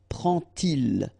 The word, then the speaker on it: prend-il: d to make the liaison, but you will pronounce it like t. And so you will get prend-il, okay?